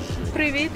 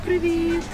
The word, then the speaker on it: Привіт: Привіт is hi. Привіт. Привіт? Привіт. I'm going to be saying that to everybody I go see today. Привіт.